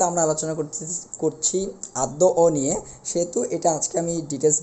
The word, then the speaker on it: অন্য: স্বরীয়টা ও হয়ে গেছে অনুরূপভাবে অন্য এটাকে অন্য বলতে হবে অন্য অন্য মানুষ যেমন আমরা বলি অন্য উচ্চারণের ক্ষেত্রে এটাই সঠিক এরপরে এটা গদ্য বলতে পারবো